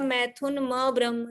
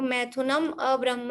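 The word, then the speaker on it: मैथुनमब्रह्म: में आ रहा है, तो मैथुनम अब्रह्म ऐसा बोलिए, या मैथुन म ब्रह्म, मतलब वो कंटिन्यू है, माँ को अलग निकाल दिया ब्रह्म को अलग कर दिया तो वो कुछ भी भाव नहीं बनेगा।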